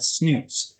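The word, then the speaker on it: snus: We also had snooze, and Frigi is spelled P-H-R-I-G-E, and snooze is spelled S-N-U-S.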